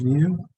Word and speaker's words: mu: down so z-score is okay it's x minus mu divided by sigma remember this guy is pronounced mu this is the average this is